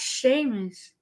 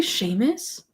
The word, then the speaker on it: Seamus: I also like I I didn't really care for It says pronounced Sheamus. Sheamus. That's Oh, they say Sheamus.